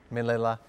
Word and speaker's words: Manila: Manila is that right he also rhymes with a flavor of ice cream I like to eat vanilla Manila okay let's get to